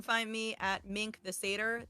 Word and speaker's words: Satyr: And you can find me at Mink the Satyr. That is Satyr, like the mythological creature, not the Jewish sad meal.